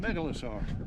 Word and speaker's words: Megalosaur: How's it pronounced? Megalosaur.